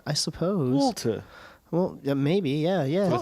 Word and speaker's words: Wolter: It's like a Walter with a British accent. I suppose. Wolter.